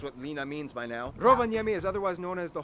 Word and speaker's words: Rovaniemi: can probably guess what lina means by now rovaniemi is otherwise known as the home of santa